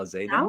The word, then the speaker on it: Alzeidan: Am I saying it right? That Alzeidan? was really good. Yeah, you said it with, like, the accent and everything. That was Yeah, perfect.